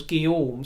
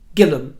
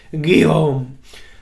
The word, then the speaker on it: Guillaume: they hadn't bothered trying to learn the correct pronunciation as Guillaume, so they said his name as it was written down. Gillum.